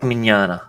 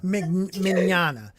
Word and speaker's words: Mignogna: It is Vic Mignogna. Mignogna. I'm Italian. I can't even say his name. Vic Mignogna. You got to use your fingertips. They got to be touching together. Oh all yeah. but your pinky when you say it.